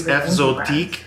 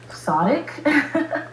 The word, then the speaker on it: Fzotic: If it's Fzotic, I will be impressed.